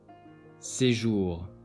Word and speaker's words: séjour: J is pronounced as Je, joie, séjour.